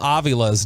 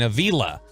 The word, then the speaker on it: Avila: we didn't pronounce Steve Avila's name correctly from TCU we were saying Avila and it's Avila and so then we